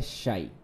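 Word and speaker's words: psi: इसमें P silent रहता है, PSHY, इसको बोलते हैं शाई, है ना। साईं बाबा होता है ना, वैसे ही साईं बोलते हैं इसको, शाई।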